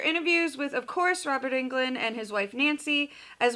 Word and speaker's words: Englund: story or England story can never say his name right it looks like England I've heard it pronounced but it's England but then I've heard that traditionally it's supposed to be on Glenn but if he pronounces it yeah it's however he pronounces it and I think it's an English I think he says England so yeah we'll go